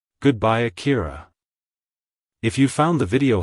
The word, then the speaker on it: Akira: and popular in English-speaking countries it's pronounced as Akira Akira Akira to pronounce it correctly emphasize the first syllable a follow by a soft key and ending with a quick raw like hello Akira goodbye Akira if you found the video helpful hit the